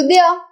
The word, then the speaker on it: द्य: जी हाँ, उच्चारण द्य। इंग्लिश में लिखते वक्त DYA एंड नॉट DHYA। द्य नहीं, द्य।